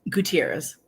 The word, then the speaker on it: Gutierrez: I say your last name again I'm sorry Gutierrez Gutierrez did I say it right or I